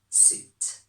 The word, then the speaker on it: suit: Ignore the spelling, the pronunciation is suit.